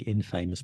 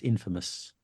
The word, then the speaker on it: infamous: in and you'd think it's going to be Infamous but it's not it's Infamous and also Infamous is not the same meaning